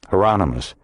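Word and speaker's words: Hieronymus: Heronomous rhymes with anonymous. Heronmous.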